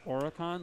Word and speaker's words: Aurokon: Yeah, I think it's pronounced Aurokon, like Orin, like Aura. You know, Aura. Yeah, like Aurokon. Gotcha. Like Khan was what I saw the phonetic spelling. Gotcha. I asked because I was like, I was gonna pronounce it like Aurokon, and he's like, no, it's more like Con.